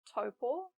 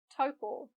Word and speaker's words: Taupo: For example, in Taupo, A and U blend to make O. Au, O, O. Taupo.